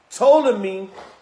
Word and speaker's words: Ptolemy: Ptolemy, the P is silent, ruled in Egypt and southern Syria, including Palestine.